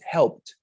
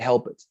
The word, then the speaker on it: helped: in a past tense, you pronounce it helped. You just add the D sound at the end, helped. You didn't say help it, helped, simply helped.